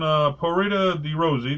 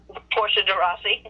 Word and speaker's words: Portia de Rossi: So in 2008, Ellen married her longtime girlfriend, Porita de Rossi. Did I not pronounce that right? Portia de Rossi.